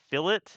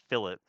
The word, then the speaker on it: fillet: to chamfer today but y'all are much easier at pronouncing chamfer than you are pronouncing philip because i know and sometimes i'll accidentally say filet too so if i do